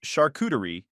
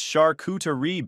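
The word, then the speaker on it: charcuterie: At one point during dinner, I mispronounced Shakuterie and Tinsley corrected me in front of everyone. It's Shakutari, babe. The tea is soft.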